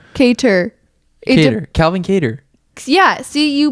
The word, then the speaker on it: Kattar: spelled cater cater calvin kater yeah see you pronounce it when you sound okay i'm in linguistics right now that sounds like it would be spelt with a d but it's a double t that's a certain word